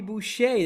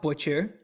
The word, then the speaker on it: Boucher: is that Waterboy no his name's Bobby Boucher that's why it's not butcher yeah oh I all